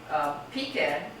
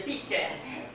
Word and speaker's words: pecan: Pecan, what is that, Midwest? I hear it in like deep south. Okay, deep southerners. Okay, I'm not deep Southern. Deep Southern say pecan, pecan, pecan. Second syllable is stressed in pecan, pecan, first syllable is stressed.